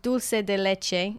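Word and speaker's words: doce de leite: mention from Brazil is, and I want to say this in the Brazilian way, not in the Spanish way, dulce de leite. Anyway, in Spanish it's dulce de leche.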